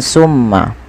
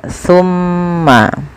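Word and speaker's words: ثُمَّ: dibaca dengan Sin ya Jangan dibaca dengan Summa tapi dia tumma pakai ta bukan pakai Sin ya pakai Sa bukan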